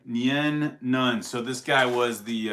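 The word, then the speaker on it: Nien Nunb: Nien Nunn.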